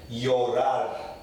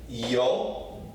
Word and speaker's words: llorar: So I find it easier to pronounce it personally as a Y. So this will be llorar, okay? Llorar, okay?